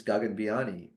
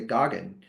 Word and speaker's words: Gagan Biyani: And so when I introduce myself, I say Gagan. And I prefer people to say gagen because I realized as a kid and you know this isn't a good thing that happened in the 90s, but people would always mispronounce my name as like gagan or gagen. And I didn't like either of those at all.